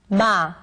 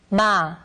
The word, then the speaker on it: 마: 마, 마, 마. This letter is read as ma.